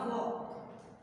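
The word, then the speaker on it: walk: कैन नॉट वॉक, वॉक नहीं बोलना है स्टूडेंट, एल साइलेंट रहेगा, वॉक।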